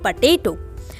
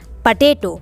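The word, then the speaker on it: potato: जी हाँ, इसे हम आलू कहते हैं हिंदी में, और इंग्लिश में कहते हैं पटेटो। पटेटो, पोटैटो नहीं कहते हैं, पटेटो, ठीक है। आपको करेक्ट प्रोनाउंस करना है इसे, पटेटो।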